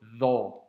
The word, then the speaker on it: ظ: Donc aujourd'hui, on va voir la dernière lettre qui est la lettre Dha. Alors c'est une lettre que l'on doit prononcer aussi avec emphase.